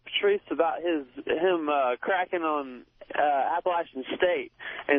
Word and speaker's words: Appalachian: Yeah, I want to talk to Patrice about him cracking on Appalachian State. And it's not Appalachian, it's Appalachian.